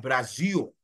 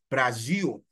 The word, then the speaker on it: Brasil: don't know, Brazil, well, in Portuguese, the L, when you have L being the final letter in a particular word, like you have Brazil, they pronounce it as O. So it's a Brasil, Brasil, right?